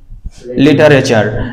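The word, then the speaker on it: literature: লিটারেচার লিটারেচার লিটারেচার এই যে যে সাউন্ড আমরা দেখতে পাচ্ছি এটা এটা হচ্ছে চয় এবং ছয় এর মত করে বলা হচ্ছে লেটচার চয় ছয় নাম শুনেছো চ এবং ছ আমরা বলি না বলতো স্বচ্ছ স্বচ্ছ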